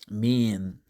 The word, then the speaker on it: mien: mean there's a Korean family called mean same pronunciation mean mean the meaning of mean is air bearing especially